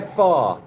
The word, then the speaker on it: pho: Yeah, they're far. It looks like it's spelt pho, but it's far.